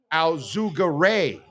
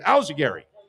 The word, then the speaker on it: Al-Zugare: But if you really look at my name, it's supposed to be pronounced Al-Zugare. Because there's an A in between the R and the Y.